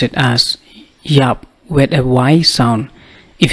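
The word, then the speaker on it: ïap: key shot key shot 20 to die ban yup bun yup you can pronounce it as Y up with a wise son if you see the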